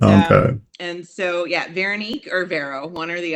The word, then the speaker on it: Veronique: I said, "How do you pronounce her name?" So, we're like Veron Veronique. Yep. Veronique.